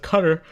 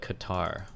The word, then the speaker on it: Qatar: It is pronounced cutter. I've been deployed to and through cutter quite a bit. Only noobs call it Qatar.